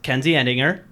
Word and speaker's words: Kenzie Edinger: This is Kenzie Edinger.